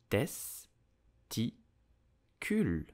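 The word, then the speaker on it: testicule: but two is better so how do you pronounce it correctly in French you would say testicular testicle test TI cool testicle did you know that according to studies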